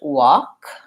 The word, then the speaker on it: walk: and is central vowel the L is silent so it sounds like talk and walk so those are the